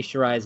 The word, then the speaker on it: Shirai: I learned how to say Shirai's last name before doing this podcast. Io Shirai. I even phonetically spelled it out in my notes so that I would say it correctly.